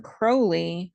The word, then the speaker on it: Crowley: also also in 1914 Alistar Crowley which rhymes with holy and his current mistress